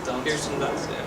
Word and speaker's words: Kirsten Dunst: Kirsten Dunst.